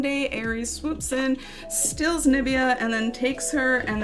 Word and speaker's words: Nubia: first book come out, Nabaya, right? And it's her backstory, and it's her as a teen going through stuff. Nubia? Okay. See, I've been saying it wrong all day. Nubia, cool.